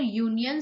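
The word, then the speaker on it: union: नहीं, यहाँ पर यूनियन स्पेलिंग वॉवेल से स्टार्ट होता है लेकिन उसका साउंड यूनियन य है, अ साउंड नहीं है, य साउंड है।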